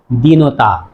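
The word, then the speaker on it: দীনতা: জিনিস মনে রাখতে হবে যখন ছিল বিশেষণ উচ্চারণ ছিল দিন কিন্তু যখন তা যুক্ত করা হলো উচ্চারণ হয়ে গেল দিনতা দিন বললে বিশেষণ আর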